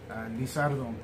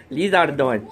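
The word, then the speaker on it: リザードン: Lizardon. Oh. Japanese time with Josh. How did you say it? Lizardon.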